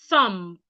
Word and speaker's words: thumb: Thumb, not thumb. Thumb. THMB. The B is silent.